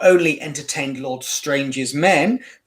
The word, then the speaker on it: Strange: become known as Lord Strang, or Strange, as we read it today. Strange got an E on the end, but it would have been pronounced Strang, Lord Strang.